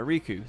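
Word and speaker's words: Rikku: to be filled by Riku, spelled with 2 Ks, from Final Fantasy X. However, since there was already a main character named Riku, pronounced the same as Riku, she was replaced by Yuffie.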